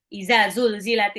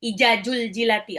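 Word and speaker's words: إِذَا زُلْزِلَتِ: Iza zulzilati, ada yang ijajul jilati. Aduh, salah. Kacau. Ya, jadi pengennya tuh benar-benar paham cara baca dan artinya. Yang satu, iza, zal, ujung lidah seperti mau digigit. Za.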